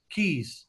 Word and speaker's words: Caye: How do you spell hamburgers Keys, Ambergers, A-M-B. Amber, Ambergris. Caye. It's spelled Caye, but it's pronounced like key, like a key.